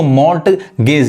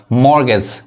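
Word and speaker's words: mortgage: अगला वर्ड देखिए मॉर्गेज इसको मोर्ट गज ये टी नहीं पढ़ाता है मोर्ट गज कहेंगे गलत पढ़ आएगा मॉर्गेज मॉर्गेज मॉर्गेज इसका हिंदी क्या होता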